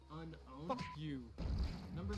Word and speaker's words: Unown: Pokédex 3D Pro app, and did you know that the correct pronunciation is actually unowned?